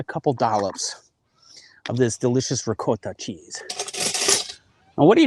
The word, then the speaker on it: ricotta: I apparently don't know how to pronounce it. I would say ricotta. That's fine. It's like potato potato. You know, there really isn't a wrong way to do it.